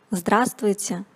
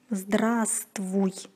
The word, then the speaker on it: здравствуй: Здравствуйте, друзья! Сегодня мы продолжаем говорить об изменениях согласных в речи. Упрощение групп согласных.